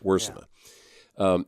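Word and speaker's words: Wiersema: How does he pronounce his name? Wursema. Wursema.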